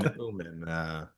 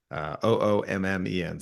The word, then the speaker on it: Oommen: can pronounce it right, because it's actually like phonetically PH, but no one else pronounces it like that. So it's and then Oommen, Oommen.